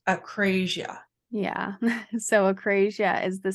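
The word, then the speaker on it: akrasia: And I believe it is pronounced acrasia.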